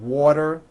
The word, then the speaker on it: water: And remember in the third session we talked about when a T falls between two vowels, turns into a D, like in the word water.